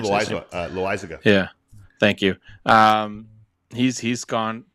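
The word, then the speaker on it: Loáisiga: Jonathan, I don't know how to say his last name, but Lasiaga. Oh, John Loizaga.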